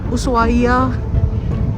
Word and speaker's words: Ushuaia: Coastal Resort city of USA The Edge is silent yeah so this morning we left buus AIS by the 6 a.m.